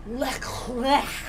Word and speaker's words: Leclair: How you say it? Leclair.